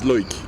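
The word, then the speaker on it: Loïc: My name is Loic. Correct pronunciation is Loic.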